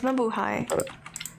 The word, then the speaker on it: Mabuhay: Mabuhay. It's Mabuhay.